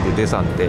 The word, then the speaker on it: Daesan: Có vẻ như nó được viết là ``Oyama'' và đọc là ``Desan''.